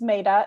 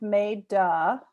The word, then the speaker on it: Meta: um like tara said my name is maida it's pronounced may duh so i like to say that because it's not i love the way it's pronounced i always say i